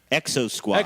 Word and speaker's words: Exo Squad: Exo Squad.